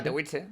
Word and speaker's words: Katowice: ¿O cómo se pronuncia? Katowice, sí, Katowice.